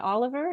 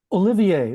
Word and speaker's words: Olivier: Claude is the Nomalini and Oliver, is that correct? Olivier, like Olivier. Sir Laurence Olivier.